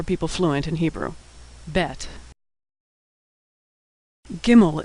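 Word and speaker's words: גימל: fluent in Hebrew bet gimel is pronounced G as in good never like in general always like in good like most letters it's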